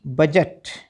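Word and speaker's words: budge: आगे वर्ड देखो बी यू डी जी ई बजट एन यू डी जी ई बी नज क्योंकि यहां पर डी साइलेंट है तो ड की जो है वो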